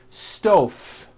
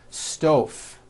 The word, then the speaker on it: stove: here's the first word stove I cooked dinner on a hot stove was that correct no I should have said stove stove I cook dinner on a hot stove with a voiced V next word 5345 correct